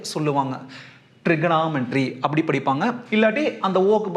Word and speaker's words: trigonometry: என்னென்னா இந்த ஓவை சைலண்ட்டாக படிக்கணும். பாரு, ட்ரிக்னாமெட்ரி இப்படி தான் படிக்கணும். ட்ரிகோனாமெட்ரி அப்படின்னு படிக்கக்கூடாது. இல்லை இன்னும் கூட சில பேர் என்ன பண்ணுவாங்கன்னா இந்த ஓ படத்தில் லைட்டாக ஏ சொல்லுவாங்க, ட்ரிகனாமெட்ரி அப்படி படிப்பாங்க.